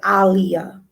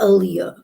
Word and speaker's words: Aaliyah: Her name is Aaliyah, not Aaliyah. Ali, like Muhammad Ali, Aaliyah, not Aaliyah.